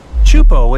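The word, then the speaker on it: Teahupoʻo: Chupo in Tahiti also has some of the heaviest waves in the world, breaking over a shallow reef and creating intense barrel rods.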